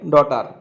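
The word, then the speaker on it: daughter: এই যে ডটার হলো এখানে নাউন এবং এই যে GH এখানে সাইলেন্ট লেটার, এর উচ্চারণ হবে ডটার, এটি নাউন, আর দেয়ার হলো এখানে পজেসিভ অ্যাডজেক্টিভ।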